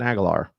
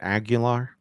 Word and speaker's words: Aguilar: You say it Aguilar. Aguilar, is that what it is? I don't know. It's like Jaguar.